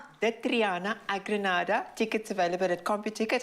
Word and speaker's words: Granada: espanol can you just give us the correct pronunciation a grenada tickets available at copy ticket and our box